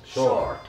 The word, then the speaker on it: sword: I think it's without we. It's sword. Yeah, I think actually that it's without we. Yeah. And in Finnish language, if there is some like letter, it's there for a reason. You should say it out loud.